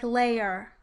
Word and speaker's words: layer: The A vowel will be used in the transcription of two-syllable words, like layer. Listen to the difference. Layer versus layer.